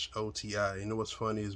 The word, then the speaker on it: Ghoti: But this is basically, if you take the GH sound off the pronunciation of the words like rough, tough, and enough, rough, tough, you got the F sound. You take the O sound from the way we pronounce the women, it's an I-ish type